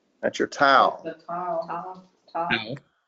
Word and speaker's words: tau: Tau. Tau is pronounced like T. Top. yes, T, as in tall.